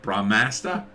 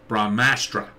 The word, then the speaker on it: Brahmastra: how do you say brahmasta brahmastra brahmastra it's like brahman and astra combined brahmastra astroverse i'd love